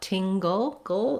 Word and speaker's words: tingle: Then another challenging thing about tingle is that we go right from the G the g sound to the ul sound. We have maybe a little bit of a schwa, an sound in there, but basically this is a syllabic L, meaning the L in itself makes a syllable.